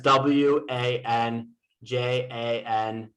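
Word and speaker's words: วันจันทร์: was it has w a n j a n t r and this mark means that it's silent so it's pronounced wanjan even though it has a tr at the end so it goes back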